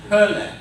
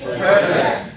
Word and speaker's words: Hölle: The O umlaut. Kind of like the ER in her, but without the R, okay? So this is pronounced die Hölle. Let's try to say it together. Die Hölle.